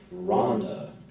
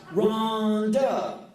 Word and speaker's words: Rhonda: name was Rhonda and you didn't say it like Rhonda like Help Me Rhonda Rhonda was Ronda she was the biggest